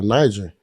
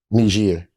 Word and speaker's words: Niger: you to go to Niger like Africa I said it wrong n nir that's how you say that word I thought it was Niger until today that's all right I